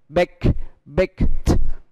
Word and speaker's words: baked: Example, baked. Đó. Kết thúc bằng k. Cho nên chúng ta đó là ED được chuyển về t.